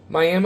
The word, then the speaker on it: Miami: And I ended up following some guy who was from the Miami, that's the way I was told to pronounce it, Miami, Oklahoma.